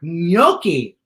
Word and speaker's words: gnocchi: G is for gnocchi. Wait a minute, Nina. You're saying that sounds like it starts with an N, but it starts with a G. Correct. It's gnocchi.